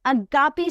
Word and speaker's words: Agapi: today and one of the world's favorite people agapy St andopolis welcome thank you Alicia and I'm so grateful you actually pronounced my whole name perfectly which not everybody